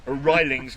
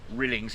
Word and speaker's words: Rilings: That's Mr. Aaron Rilings, not Aaron Rilings. It drives him mad if you pronounce it that.